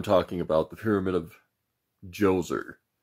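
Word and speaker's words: Djoser: about the Pyramid of joser my notes said that the D is silent I thought that might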